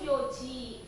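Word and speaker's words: 四時: Jam 4 itu kan kalau biasanya dibacanya apa? Yong kan ya. Di jam itu yoji.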